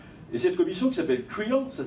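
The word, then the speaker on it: Creel: Et cette commission qui s'appelle Krill, ça s'écrit C R E E E L du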